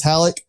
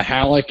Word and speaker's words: Halicke: way of uh halleck is spelled h-a-l-i-c-k-e and uh just when it comes to pronoun pronunciation if you ever get mixed up just act like there's not an e on the end or i just started